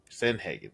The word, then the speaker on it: Sandhagen: Corey sunbar or how do you say Cory sandhagen San Haagen that's how you say yeah right that's six